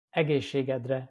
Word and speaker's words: Egészségedre: Egészségedre, which means to your health.